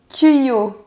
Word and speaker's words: tuyau: C'est un tuyau. Très bien. Ah, Tuyau. tuyau. Très très bien. Ouais, donc on entend bien le son i.